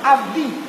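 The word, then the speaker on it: עבדי: Ini vet. Vet ini jadi av. Vet. Huruf vokalnya vet. Ayin vet. Av dalet yod. Jadi dibacanya abdi.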